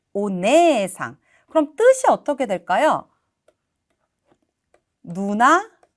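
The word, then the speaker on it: お姉さん: 상도 이렇게 붙게 되면 이때는 네라고 발음하게 돼요 오네상 그럼 뜻이 어떻게 될까요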